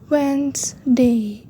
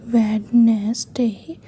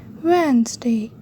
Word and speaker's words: Wednesday: Wednesday. It's not pronounced Wednesday. We say Wednesday. Wednesday.